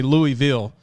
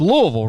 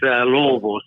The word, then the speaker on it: Louisville: I used to say Louisville, but it's Louisville, right, Coach? That's exactly right. The affectionate way is Louisville. So it's like you got some crawfish in your mouth and just kind of Louisville.